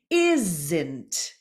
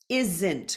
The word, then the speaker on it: isn't: the voice th the isn't isn't contraction for is not isn't the S becomes a z sound nothing nothing voiceless th